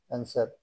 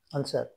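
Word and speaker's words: answer: এস ডব্লিউ ই আর অ্যানসার উত্তর এখানে ডব্লিউ উচ্চারিত হলো না আনসার এস ডব্লিউ ও আর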